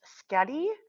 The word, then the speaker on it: Skau: Editing note here, it's pronounced Skadi. I learned how to pronounce it correctly. Just in the beginning there was Norwegian writing. When I had first read the word, I thought it was an O there, but it's actually a D sound.